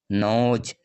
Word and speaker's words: nose: তেমনভাবে দেখো এখানে NOSE, এখানে ই এবং ও ভাওয়েলের মাঝে রয়েছে এস, তাই এর উচ্চারণ হবে নোজ, জয়ের উচ্চারণ আসছে নোজ।